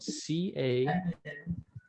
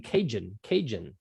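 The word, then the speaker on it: cajón: So a lot of people I hear saying Cajun. Yes, but because it's Spanish, it's pronounced differently. And in the Spanish language, they don't have a j sound. All of their J sounds with the ha. Yeah. Yes. Yeah. So you would say cajon.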